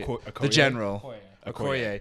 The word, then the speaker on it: Okoye: The general Okoye. Okoye.